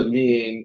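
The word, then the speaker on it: lien: l like l i e l but it's pronounced US l so lean you want to check if there's a lean registered against asset of the company and if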